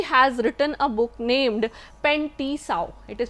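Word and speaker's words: Pen T'sao: 2700 BC, he has written a book named Pen Ti Sao. It is pronounced as Pen Ti Sao or native herbal, and this herbal, it records around 365 drugs.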